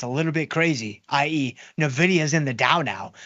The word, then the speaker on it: Nvidia: correct here that Nvidia some people say it wrong they say Nvidia it's Nvidia is NVIDIA in the Dow